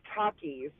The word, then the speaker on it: Takis: Show now am I is it Takis Taki how do you pronounce the snack so it's Takis it is Takis all right now now